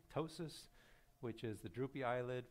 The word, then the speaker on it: ptosis: smaller pupil ptosis okay you don't pronounce the p ptosis which is the droopy